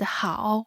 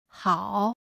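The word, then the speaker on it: 好: third low tone Ma Chinese word how which means good also carries the third low tone how the first tone Falls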